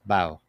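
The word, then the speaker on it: bough: guess no wow I'm told by Google it's pronounced bow okay yeah yeah Google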